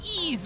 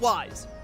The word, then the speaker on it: Ys: It's pronounced Ease or whatever, but I'm pronouncing it wise.